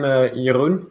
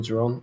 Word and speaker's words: Jeroen: So I'm Jeroen. That's how you say it in Dutch. But it's fine if you call me Jeroen in English.